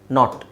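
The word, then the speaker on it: knot: ಕೆಲವು ಪದಗಳು ಉದಾಹರಣೆಗೆ ನೋಡಿ ಕೆ ಎನ್ ಓ ಟಿ ಎನ್ ಓ ಟಿ ಎರಡರದ್ದು ಉಚ್ಚಾರಣೆ ನಾಟ್ ಓಕೆ ಎರಡರದ್ದು ಉಚ್ಚಾರಣೆ ನಾಟ್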